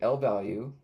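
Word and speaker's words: lvalue: So L values an L value pronounced L value represents an object stored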